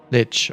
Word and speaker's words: lich: So, it's it's supposed to be lich cuz I would call it a li or le, but I guess that is uh something the Dutch also would say if they were trying to to pronounce it. All right. So, it's ditch.